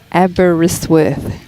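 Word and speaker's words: Aberystwyth: FYI, Abbottzsworth is pronounced Abberisworth.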